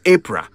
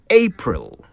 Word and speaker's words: April: And it is not Apra or Apru. It's April. That is how you say it right.